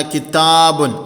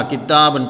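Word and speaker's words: كِتَابٌ: എഴുത്തിൽ ഇല്ലാത്തതും ഉച്ചാരണത്തിൽ വരുന്നതുമായ സുക്കൂനുള്ള നൂനാണ് തൻവീൻ.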